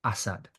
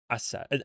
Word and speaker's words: Assad: My mum, everyone I know here pronounces it Assad. Assad. It's almost, he almost says it's like he's saying Assad, but like it's almost as if he's about to say Assad, but not quite there. Assad.